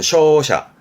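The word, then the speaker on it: 勝者: 발음은 쇼샤, 쇼샤.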